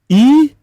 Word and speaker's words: Ewe: Now ever no ye then. Ever is the English version of the name. That is why it is spelled EWE in English language. But it is Eve.